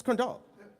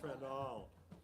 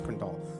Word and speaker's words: Crandall: It's Crandall. It's not Crandall. He told me in confidence. He told me he was going to mess with you guys and do a bit about how I'm pronouncing his name wrong, but it's Crandall.